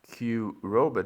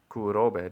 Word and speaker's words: Kurobe: Japan's biggest dam Q Roba Dam or to pronounce it in any way more Japanese kuroba Dam um the coroba dam